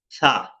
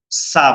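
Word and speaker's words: ثاء: বাতাস খুবই কম বের হবে, সেনসিটিভ হরফ, এবং খুব পাতলা করে পড়তে হবে।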